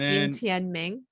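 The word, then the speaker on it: Jin Tianming: Jean so it would be Tianming, Jean Tianming. It's kind of like, think of it as like Jen. Jean.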